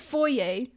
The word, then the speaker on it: foyer: Oishi-san, it's pronounced foyer.